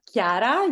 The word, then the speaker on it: Chiara: How do I pronounce her name? Chara? So it's Chiara, yes. Chiara.